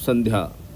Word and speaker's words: संध्या: क्या होता है न तो इसका जो प्रोनाउंसिएशन है बिंदी का अनुस्वार का वो क्या होगा सन वो भी आधा न सन संध्या सावित्री त्वम देवी जननी